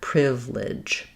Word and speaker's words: privilege: You could think of DGE just as the J sound, but we don't typically spell it with J at the ends of words. We spell it with GE or DGE like in edge or ledge. So again, first syllable stress, this one's going to be longer, privilege, privilege.